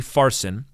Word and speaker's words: Parsin: The word is Parsin, or it might be a soft P, Farsin.